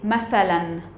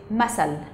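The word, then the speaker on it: مثلا: In Arabic, Fusha, formal Arabic, we say mathalan or mithal. In Amiyya or in Urban Arabic, we say masal. And then there's just the pronunciation change to be s. However, it's still written the same.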